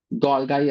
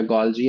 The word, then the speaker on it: Golgi: गोल्गाई apparatus या गोल्जी apparatus, गोल्गाई body भी बोल देते हैं। तो अलग अलग pronunciation according to द differences and versatility.